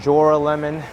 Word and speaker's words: Joralemon: I think I called it Joralemon, and then Joralemon and Joralemon. But proper way is Joralemon.